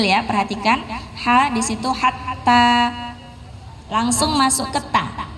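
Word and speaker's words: حتى: Ha di situ hatta. Langsung masuk ke ta. Hatta, bukan hatta. Nah, ya, karena huruf tanya ada tasydid. Perhatikan ya, ada tanda tasydid.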